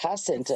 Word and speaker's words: Jacinta: Yeah, my second name is Jacinta, which is pronounced Jacinta Jacinta, in Jacinta. It's Spanish.